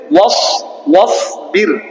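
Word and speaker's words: واصبر: ঠিক আছে, ওয়াসবির ওয়াসবির, এখানে কি হবে? রা বারিক হবে না পুর? বারিক কেন? রা সাকিনের আগে কি এসেছে? জের এসেছে, তাহলে এটা উচ্চারণ কি হলো? ওয়াসবির।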